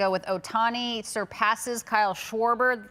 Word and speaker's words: Schwarber: It's not even Schwber. It's Schwarber.